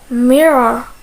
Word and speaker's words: mirror: word rage great rich as for words that have a double r er they are pronounced with a single sound like mirror mirror mirror so in the words